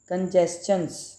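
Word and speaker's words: congestions: कंजेस्चंस, इसका प्रोनाउंसिएशन होगा कंजेस्चंस। यहाँ पे TION जो है वो शन की साउंड नहीं देगी, कंजेस्चन च की साउंड आ रही है, ठीक है।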